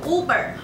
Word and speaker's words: Uber: ，所以是应该是念 Uber，而且你也可以叫 Uber Eat。